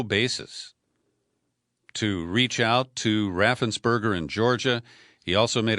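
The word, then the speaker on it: Raffensperger: you know who brad raffen's purger is that's the way greg palace likes to pronounce his name it's raffensberger he is the republican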